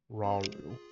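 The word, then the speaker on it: Rauru: No, it's pronounced Raru.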